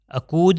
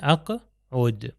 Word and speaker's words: اقعد: یہاں پر آپ دیکھیے یہ قاف پھر دوبارہ قاف اور یہاں پر دوبارہ قاف اقوم و اقعد ہے اقود نہیں ہے اقعد.